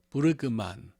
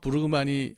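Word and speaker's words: Brueggemann: 거기서 이제 그 제가 한참 공부하던 시절에 그때 현역으로 그 구약을 가르치던 그 부르그만 이게 참 발음이 어려워요. Bruggegemann. 부르그만으로 부르는 것이 맞는 것 같은데.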